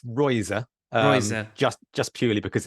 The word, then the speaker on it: Reuser: Today, I have with me FPL Rouser. Did I pronounce that right? You can pronounce it however you want, but it's Royser, Royser.